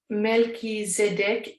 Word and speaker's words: Melchizedek: Melchizedek, pronounced Melchizedek, whose name means king